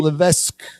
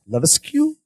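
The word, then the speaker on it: Levesque: forgot to mention Paul Lees leesu Paul oh it's Le oh all that is silent great Paul Le SLE H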